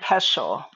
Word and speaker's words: pestle: Mortar and pestle.